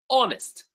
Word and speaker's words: honest: Honest, the H is silent.